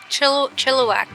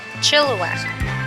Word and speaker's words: Chilliwack: Chilliwack. I said it right. Chilliwack.